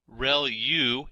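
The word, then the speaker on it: ReLU: There are multiple hidden layers like convolution layer rel u is how that is pronounced and that's the rectified linear unit that has to do with the activation function that's used.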